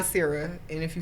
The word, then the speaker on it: Nasira: Nasira, and if you say Nas.